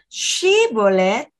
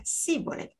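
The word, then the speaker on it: Shibboleth: Shibolet dan Sibolet.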